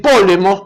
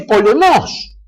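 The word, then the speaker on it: πόλεμος: y en griego entonces quiere pronunciar en griego borondona en lugar de decir polemos que en griego que decir fiesta ya viene polémica dice ponemos No sé a ver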